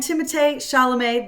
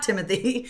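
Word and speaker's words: Timothée Chalamet: Whimsical and magical and timate shalam that is how you say his name I've just learned it is not Timothy uh I he's just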